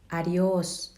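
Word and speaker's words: adiós: ลา ก่อน นะ คะ ออก เสียง ว่า adios ชื่อ อดิ โอ ส ชื่อ อดิ โอ ส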